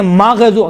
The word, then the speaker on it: مغضوب: غیر المغضوب علیہم، دیکھیں مغضوب، غین میں قلقلہ نہیں ہے لیکن تلفظ کرتے وقت کیا کہتے ہیں؟ مغضوب علیہم، ماغ نہیں ہے۔ غین اور خا میں دیکھیں، غین اور خا یہ کون سے حروف ہیں؟